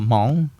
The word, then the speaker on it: Hmong: Are you Mongolian? Right? yeah, They say that. I hear that a lot. Yeah, are you too. Mongolian? Oh, no, I'm not Mongolian. I'm Hmong, right? So yeah, so Hmong, Hmong, and how it's spelled in Hmong is Hmoob.